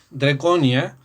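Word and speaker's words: Drekonja: austríaco, Gerard Draconia Cornat, Draconia, que ustedes van a ver bibliografía y se escribe Dreconja, pero se pronuncia Draconia.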